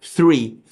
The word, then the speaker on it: three: que é Ah tá então é por isso que o som th faz diferença porque na árvore você vai ler como se escreve Tree só normal mas o três como é isso three Fernando aí é onde